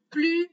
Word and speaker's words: plus: Dans ce cas-là, on va prononcer plus vite. On ne prononce pas la lettre S parce que vite, c'est un adverbe.